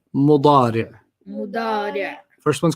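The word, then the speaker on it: مضارع: And then the present is mudari'. Mudari'. Mudari'. You don't have to pronounce the tanween, just mudari'.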